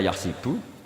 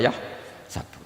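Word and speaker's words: يَحْسَبُ: Karena dalam qiraah asab ada yang baca yahsibu, qiraah kita baca yahsabu. Tapi guru-guru kita kalau ngajar fikih itu bacanya yahsibu. Tapi kalau baca Quran yahsabu.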